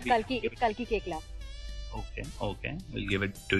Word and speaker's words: Kalki Koechlin: Kalki Koechlin is how it is pronounced, or Koechlin? No, it's Kalki Koechlin.